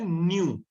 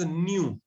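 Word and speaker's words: ν: ये सिंबल जो है वो ग्रीक अल्फाबेट है, न्यू, प्रोनाउंस्ड एज न्यू। जैसे हम न्यू को प्रोनाउंस करते हैं, इसको भी न्यू प्रोनाउंस करते हैं।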